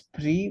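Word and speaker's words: prix: Okay, it's not prise, it's pre. We don't pronounce the S.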